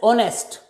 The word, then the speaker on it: honest: most of the words if o is followed by h at the initial position h is silent of course there are